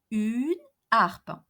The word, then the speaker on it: harpe: So imagine that Mary owns a harp, une harpe, une harpe. H here is an aspirated H, H aspiré, une harpe, and not une harpe.